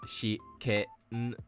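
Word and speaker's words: 試験: as sh or k, the i or the u gets almost deleted. This is why despite the kana for this word being read as shi ke n, the pronunciation is actually shiken.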